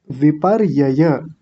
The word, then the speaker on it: विपर्यय: विपर्ययय। Whip whip के बाद में र बोलना है। यह जो ऊपर वाला र होता है ना यह उस वाले अक्षर से पहले ही बोला जाता है।